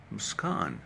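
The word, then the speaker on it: Muskaan: Muskan, it's double A. Sounds Muskan. Kaan.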